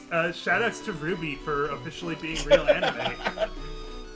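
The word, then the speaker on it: RWBY: it differently, but yeah, Ruby is how I've always pronounced it.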